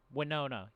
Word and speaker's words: Winona: when no one no winona winona winona you know like the actress winona ryder yes yes there you